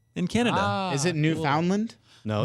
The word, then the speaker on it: Newfoundland: just like Josh from the small island of Newfoundland in Canada. Is it Newfoundland? No. Newfoundland?